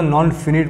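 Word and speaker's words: non-finite: ये जो शब्द की स्पेलिंग आप देख रहे हैं फाइनाइट, इसे पढ़ेंगे यहाँ पर फाइनाइट। अगर सिंगल शब्द है ये शब्द अगर यहाँ पर इसके नॉन के साथ आ गया तो नॉन फिनिट पढ़ा जाएगा।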